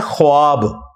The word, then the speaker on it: ख्वाब: नहीं आ सकता अच्छा ये लफ्ज लिखने में है ख्वाब ख व अलिफ बा लेकिन पढ़ने में यह खवाब है व साइलेंट हो जाता है ख्वाब पढ़ा जाता है यह लफ उर्दू